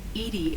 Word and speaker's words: EDI: are you named eating IDI is the phonetic pronunciation of EDI that is an acronym for enhanced defense intelligence what do you do